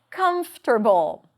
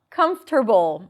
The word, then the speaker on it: comfortable: The next hated word is comfortable. Comfortable. It is very uncomfortable to pronounce the word comfortable.